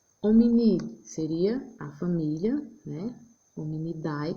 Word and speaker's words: Hominidae: Hominidae, que a gente sempre pronuncia hominid.